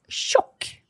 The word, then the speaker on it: tjock: And then we have the opposite, and is tjock. Okay, jag är tjock. How do you spell tjock? It's spelled T-J-O-C-K.